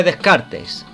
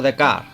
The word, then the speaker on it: Descartes: Un ejemplo de la filosofía y del razonamiento lógico lo constituyen los planteamientos de Descartes, también pronunciado como Descartes, filósofo francés del siglo XVII.